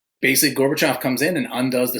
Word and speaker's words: Gorbachev: it it's Russian but so if we get it right Gorbachev glass Knost perestroika okay I'm so Mikhail Gorbachev